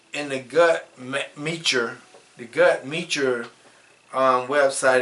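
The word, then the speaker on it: Guttmacher: all nationalities of people it says in the gut meure the gut meure um website is g u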